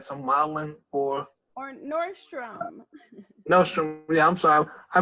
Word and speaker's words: Nordstrom: question how did the connection between you and nostril now come around oh I like some Milan or or Nordstrom Nostromo Leone so I mispronounced yeah Nordstrom was one of the first